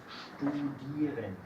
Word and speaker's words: studieren: Entonces, en esos dos casos, EI y IE, no se pronuncia como se escribe. ¿Sí? En esos dos casos, no decimos EI ni IE. Decimos aquí I y aquí decimos I.